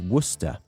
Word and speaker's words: Worcester: a visit I made to a town called Worcester in a county called Worcester share um didn't